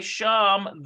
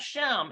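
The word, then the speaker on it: שם: So notice it's not shem, it's there. We have to remember it's spelled exactly the same way, but it doesn't make sense to say an entering name. So it's got to be the other one that's spelled exactly the same way, which means there.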